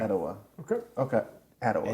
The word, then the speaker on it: Atiwa: Atiwa. Atiwa. Okay. Okay. Atiwa. I like it. Atiwa. Atiwa. With emphasis on the third syllable. Atiwa.